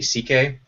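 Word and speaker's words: Székely: interesting uh his real last name is actually CK and so that's how you pronounces his real last name is CK so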